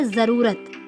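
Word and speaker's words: ज़रूरत: लिखा है जरूरत जरूरत लेकिन इसका उच्चारण है वह जरूरत है बच्चों जरूरत और यह कैसे बने का यह जो के नीचे यहां पर लगाएंगे तो इसको इस तरह से उच्चारण करेंगे बस उच्चारण करेंगे जज रूप रथ जरूरत ऐसे ही जो शर्मा है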